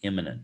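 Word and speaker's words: immanent: call the transcendent and the imminent not imminent like about to happen it's spelled differently and it means something different but it's a synonym it sounds the same so the transcendent is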